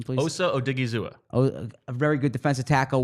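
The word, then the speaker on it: Odighizuwa: Give me the pronunciation, please. Osa Odigizua.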